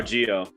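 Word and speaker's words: Zi-O: Oh, Geo. It's spelled Right. Zio, but it's pronounced Geo because Japanese pronunciation and spelling is weird.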